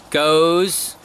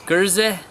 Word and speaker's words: Geuze: there's use goes gerson gurza I mean I first so many pronunciations by different countries on this so it just depends on the region that you live in on how you pronounce it and often the Spelling's